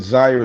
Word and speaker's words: Zire: But Zaire is Yeah. spelled like fire with the letter Z.